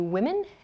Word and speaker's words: women: The first vowel, O, here does not change in terms of spelling, but in pronunciation it does change.